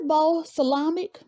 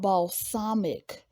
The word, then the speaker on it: balsamic: off some steam and what is ball salamic it's actually called balsamic why didn't anyone correct